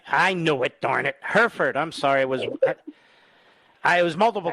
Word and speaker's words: Hereford: Did I pronounce that correctly? It's Hereford. I knew it, darn it. Hereford.